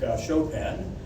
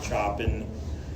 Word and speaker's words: Chopin: let's uh look at another composer uh Frederick shopen and that's how it's pronounced please don't come out of the class calling him choen he's a he's a major you know composer